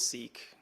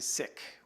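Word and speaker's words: Sikh: it's a good question I cringe when someone calls it seek right um by letter and term it's it's actually sick and it's derived from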